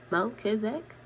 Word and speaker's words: Melchizedek: Melchizedek, pronounced Melchizedek, whose name means King of Righteousness, is the